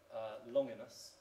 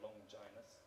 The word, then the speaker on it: Longinus: The first is from the ancient author Longinus, or Longinus, sometimes pronounced.